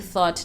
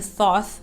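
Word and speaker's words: Thoth: the Greeks call thought I'm saying thought now because I recently learned that that's how it's pronounced I've been saying tho for maybe 3 4 years now but anyway the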